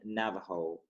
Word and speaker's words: Navajo: yeah Navajo, like I don't know how to pronounce it yeah properly. they call them Navajo. Navajo, okay, Yeah, Navajo, okay.